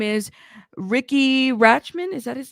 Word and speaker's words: Rachtman: Riki Rachtman. The T is silent, okay?